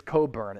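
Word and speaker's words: Cockburn: about chet holmgren and it is coburn it's not pronounced how it's spelled the real ones no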